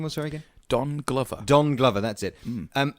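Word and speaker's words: Donald Glover: okay so except for Don Glover Don Glover not to be pronounced dong lover which is something entirely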